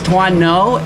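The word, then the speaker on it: Tuan Ngo: it thank you my my name is Twan no and it's spelled t UA an and last name is spelled NGO thank you all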